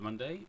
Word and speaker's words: Munday: My name is Munday and, well, this is FPL Sunday with, yeah, you guessed it, it rhymes.